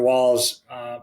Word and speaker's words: Wahls: Walls. For people listening, by the way, it's Terry Walls. It's spelled Wahls.